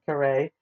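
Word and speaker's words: Kareah: that wrong earlier I apologize the son of karay and that's spelled k a r e a h and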